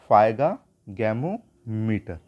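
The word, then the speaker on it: sphygmomanometer: ठीक है, और इसको क्या बोलते हैं जो ब्लड प्रेशर नापने की, तो फाइगैमोमीटर। क्या नाम देंगे इसको, फाइगैमोमीटर। यहाँ पर एस साइलेंट है, ये ध्यान रखिएगा आप।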